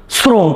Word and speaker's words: শ্রম: কিন্তু যখন আমরা উচ্চারণ করি তখন কি শ্রম উচ্চারণ করি নাকি শ্রম উচ্চারণ করি? শ্রম নাকি শ্রম? শ্রম। তার মানে কি আমাদের বানান আছে তালব্য স, মানে উচ্চারণ করতেছি কি স্বয়ের মতো। আর স্বয়ের মতো উচ্চারণ কি তালব্য স হবে দন্ত স হবে?